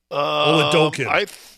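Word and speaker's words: Oladokun: Oladokin. I think. Is that better? It's more accurate. That was the correct pronunciation.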